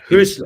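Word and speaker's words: Hürzeler: Yeah, Hirschler. Husler. Is that how you say it? Yeah, Husler. yeah, well, it's a U with the two dots. I think Okay. they pronounce it Y. So Hirschler.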